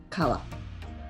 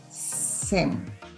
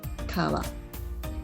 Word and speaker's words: 川: Kunyomi is Japanese original language, kawa. Onyomi comes from China and stay as a Chinese pronunciation, sen. So kunyomi, kawa. Onyomi, sen.